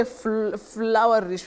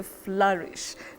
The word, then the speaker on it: flourish: us those pronunciations like we don't say flowerish we say flourish now we know flourish flourish to flourish